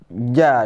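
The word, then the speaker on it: ج: Yang pertama huruf ja dulu atau jim ya. Huruf ja. Cara membacanya di tengah lidah, tidak ada angin ya.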